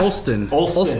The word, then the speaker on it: Olstyn: Olstyn.